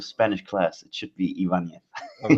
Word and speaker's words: Ibanez: No, there's no the thing on the N is missing, so it's Right, so there's Ibanez, no. but the B is pronounced like a W.